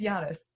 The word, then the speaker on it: Giannis: note to the fan Sarah has now started to spell Yanis his name why a and and us to remind yourself how to pronounce it yeah after after kind of getting that so wrong on the last episode I decided okay I'm gonna have just do this phonetically and then I'll figure it out so now I know how to say his name it's Yanis hey congratulations me okay